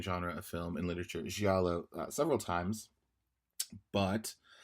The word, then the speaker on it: giallo: of film and literature, giallo, several times, but I actually mispronounce it as giallo.